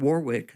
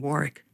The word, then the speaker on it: Warwick: r i c k they were saying Warwick. Warwick, yeah. And I think you look in England nowadays for that word you find that that's how they still pronounce it over there.